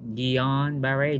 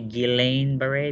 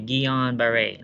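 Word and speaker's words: Guillain-Barré: so guillain-barre syndrome uh it's french you know it's sounds better if you say dion berry don't say guillain-barre but you say gion beret like mena jetwa and um what else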